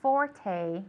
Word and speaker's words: forte: Okay, it's got the long E at the end. Forte.